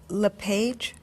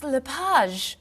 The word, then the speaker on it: LePage: just a few minutes is your last name pronounced LePage it's Lapage actually oh that's beautiful thank you now is it MS Lapage or mrs.